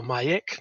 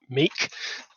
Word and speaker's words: Miek: My name is Mike, which is pronounced Mike or Miek, not Meek, which everyone incorrectly pronounces.